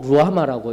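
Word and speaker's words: רֻחָמָה: 이거 딱 띄우세요. 루하마라고 읽어야 됩니다. 루하마.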